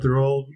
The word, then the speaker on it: Raul: I never thought about the fact that Raul rhymes with towel has a mother.